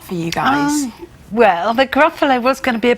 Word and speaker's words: Gruffalo: There's no such thing as Oh, so it had to be 3 syllables. Grrr, that's kind of fierce. And I think Gruffalo just sprang to mind because it rhymes with buffalo, I suppose.